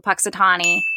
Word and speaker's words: Punxsutawney: what happens is this weather man goes to punxsutawney um oh that's how you say it yeah